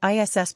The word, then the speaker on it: is: too this is pronounced ISS brawlam 2. use a hard s sound as in SAS for the first word it should not sound like the English word is note that Breyer rhymes